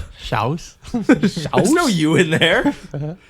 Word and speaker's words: Shas: or the shas jordan how would you say s-h-a-s shouse i know you in